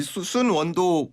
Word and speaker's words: 쑨원: 이 순원도 공부하실 때는 그러면 소문인가요?